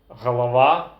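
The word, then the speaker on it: галава: and gu in russian for example horrid gorod Halawa galava hiroi hiroi the next pair of sounds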